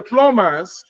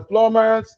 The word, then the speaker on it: plumbers: you get me so whenever we have MB in most cases the B is usually what silent well you know here